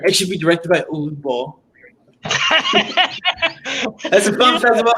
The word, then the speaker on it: Uwe Boll: Uwe Boll. It's pronounced okay. believable. But whatever, dude. I'm sorry. That's how in German they pronounce it.